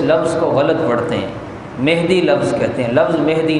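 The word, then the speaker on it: مَہدی: تو یہ مہدی لفظ یہ غلط ہے. لوگوں کو اس کا علم نہیں ہے، وہ اس کو غلط تلفظ کے ساتھ پڑھتے ہیں. لفظ کیا ہے اصل میں؟ مہدی، میم کے زبر کے ساتھ.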